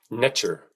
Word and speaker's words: Neter: Neter was actually pronounced nature extremely close to the English pronunciation of nature nature observable effects inherent